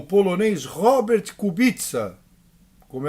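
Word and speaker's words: Kubica: o carro amarelo venceu com o polonês Robert Cubitza, como é a pronúncia na Polônia, com Phil Hanson da Inglaterra e Iei i da China.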